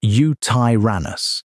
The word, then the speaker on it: Yutyrannus: The largest known feathered dinosaur is Yutyrannus, pronounced you-tie-ran-us, a 30-ft cousin of T-Rex pulled from the same Liaoning beds.